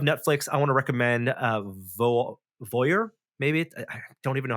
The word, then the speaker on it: Voir: its newest form called I think it's pronounced Voyeur. It's VOIR.